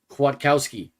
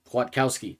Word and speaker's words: Kwiatkowski: Kwiatkowski. Kwiatkowski. That's how you pronounce that.